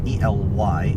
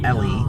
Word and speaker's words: Ely: We are officially in Ely, Nevada. Okay, people, come on now. So that is spelled E-L-Y, and it is said Ely, not Ellie or Eli. It's Ely.